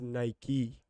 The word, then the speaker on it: Nike: nice we understand that some people say nike is nike it's the right way to say it let's go hey